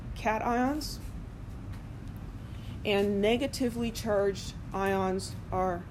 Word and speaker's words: cation: And it's cation, not cation, which I guess could be short for vacation, but no, it's cation and anion. Anion sounds like a mispronounced onion, so I'm not going to use those mispronunciations.